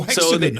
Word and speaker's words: Hexagone: Oh, hexagon. Okay, right. Yeah, but in France we don't pronounce the H. We say hexagon.